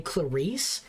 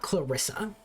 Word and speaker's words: Clarisse: And to this day, I still struggle to actually say Clarisse and not Clarissa.